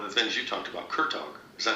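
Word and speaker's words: Kurtág: You know, just to bring up a name, I saw one of the things you talked about, Kurtog.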